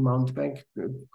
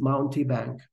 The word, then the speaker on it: Mountebank: I I think I I'm not pronunciating mountbank correctly but I got used to it because we used this way in our project earlier so I think the the proper pronunciation is mounty Bank so but sorry sorry